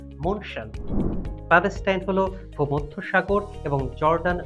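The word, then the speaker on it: München: German ভাষায় শহরটির নামের উচ্চারণ মনশান।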